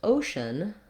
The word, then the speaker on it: ocean: So for example, in ocean, we have a schwa for the letters EA. It sounds like and that's an example of an unstressed syllable. O is the long stressed syllable with a clear vowel, and then shun just has that schwa, that unstressed sound.